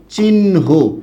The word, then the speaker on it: চিহ্ন: ঠিক একই রকমভাবে এটার উচ্চারণটা কি হবে? চিহ্ন। কেন? আগে হ ছিল, হ চলে যাবে পরে, আর আগে পরে ছিল ন, সেটা চলে আসবে কি? আগে।